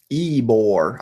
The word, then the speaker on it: Ybor: it over there to UM Bieber city pronounce it correctly Ybor I yeah I recreated